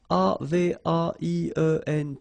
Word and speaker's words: avaient: And then you saw probably that we've got also here A-V-A-I-E-N-T, but then you pronounce it avait.